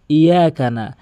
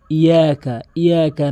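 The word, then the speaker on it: إِيَّاكَ: অধিকাংশ লোক কী বলে, ইয়াকা নাবুদু ওয়া ইয়াকা নাস্তাইন। এটি সম্পূর্ণ ভুল। আপনি যদি শুদ্ধ করে উচ্চারণ করতে চান, এখানে ইয়া তাসদীদের উচ্চারণ করতে হবে, ইয়াকা নাবুদু।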